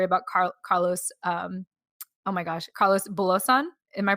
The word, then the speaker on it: Carlos Bulosan: had the story about Carlos, oh my gosh, Carlos Bulosan. Am I pronouncing right? Yeah. Okay, cool. Carlos Bulosan.